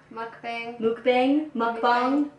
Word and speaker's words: mukbang: We're gonna do mukbang. Mukbang.